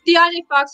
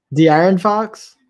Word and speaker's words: De'Aaron Fox: How come DeAndre Fox is not on this list, who's been balling out? De'Aaron Fox?